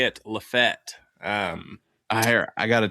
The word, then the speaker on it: LaFayette: Um, so it's not pronounced Lafayette. It's Lefet. Correct. Fet. The locals say it. Lefett.